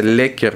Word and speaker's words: läcker: Это правильно произносится, Леккер. Ну, в принципе, на наш лад это больше как лакер, наверное.